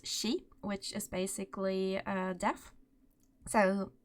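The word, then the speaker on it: 四: year because in Japanese, the 4 can be pronounced as shi, which is basically death.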